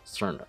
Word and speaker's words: Cirno: So with the CI making a C sound, we get Cirno. This matches with the typical English pronunciation, like in circulation or circumvent. So this is how most English speakers would pronounce her name in their head when first encountering it. It's also what text-to-speech says. Cirno.